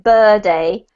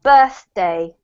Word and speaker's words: birthday: don't forget with birthday just imagine it's two separate parts Salvatori we don't want it to sound like bird a we want the birth and then the day so birthday yeah perfect that's much better